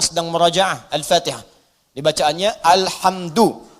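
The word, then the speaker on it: الحمدُ: al-fatihah di bacaannya al-hamdu bagi kan alhamda pakai sakhkhah atau alhamdi pakai kesra ya Apa bacanya duh al-hamdu jadi kalau dibaca dalam sholat jangan baca menggunakan Fathur Alhamdulillah atau kasra alhamdi tidak baca menggunakan bomma Alhamdulillah Wow bedada unwaha bareng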